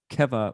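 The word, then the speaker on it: קבע: that's kind of assonant sounds similar because they both begin with a k sound though they're spelled with two different hebrew letters this one is spelled with a kuf keva which means fixed here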